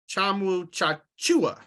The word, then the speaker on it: Tchamwa Tchatchoua: So, by the way, they were pronouncing his name a little bit differently on the broadcast, and I don't know if you saw my tweet. I did. Yeah. So apparently it's Jonathan Tchamwa Tchatchoua.